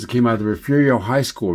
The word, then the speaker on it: Refugio: Down below, these are the arched windows that came out of the Refugio High School, Refugio, Texas. And that's spelled like totally different than it sounds.